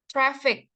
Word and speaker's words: traffic: Traffic. Traffic with soft F. Bukan V.